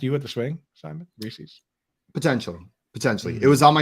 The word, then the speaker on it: Reese's: Like it rhymes with pieces. Reese's Pieces.